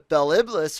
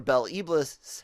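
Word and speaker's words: Bel Iblis: the three key founders the bell iblis or belle ebles however you want to pronounce it he kind of went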